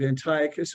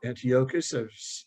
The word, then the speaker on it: Antiochus: that line there is a character by the name of antiochus or antiochus i've seen and heard both pronunciations antiochus iv prohibits jewish